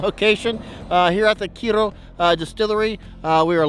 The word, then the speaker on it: Kyro: KIRO Distillery we've learn we've been pronouncing it wrong the whole time it's not Cairo it's KIRO um kind of roll your hearts I guess but we